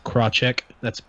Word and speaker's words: Krawczyk: We got Lewis, Eric Bodhorn, and Krawczyk. Am I pronouncing that right?